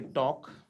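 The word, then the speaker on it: talk: तो इसी तरीके से हम बोलेंगे TAL के टॉक, तो टॉक में जो है क्या साइलेंट है, L साइलेंट है।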